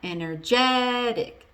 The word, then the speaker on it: energetic: Energetic, energetic. So what happens is the stress moves from the first syllable all the way to the second to last syllable.